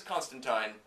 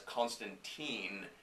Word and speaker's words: Constantine: show Americanized his name the character's name is Constantine as very clearly stated many many times for the characters history the pronunciation is clear in America people don't understand